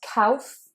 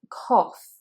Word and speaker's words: cough: Number 30 is cough, cough, not cough or cough, it is cough, cough. O as in yacht, as in robot, as in shop.